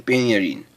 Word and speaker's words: Penya Rhin: anniversary today is the grand prix premio de pinna een that's actually end with an accent just the way it's pronounced and there's a picture from it i